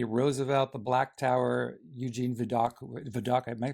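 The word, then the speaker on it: Vidocq: Roosevelt's Beast Teddy Roosevelt the Black Tower Eugene vidok vidok am I pronouncing that correctly vok yeah vok according Mr Lincoln obviously Mary Todd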